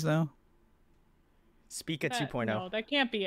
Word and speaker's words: Spica: trip that was I I believe the correct pronunciation was H Spa so speaka uh their song painkillers so if you're just